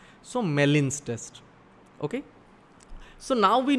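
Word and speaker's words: Gmelin's: Just note this, the alternative test to this test is pronounced as Mellin's test. G-M-E-L-I-N, G is silent. So Mellin's test.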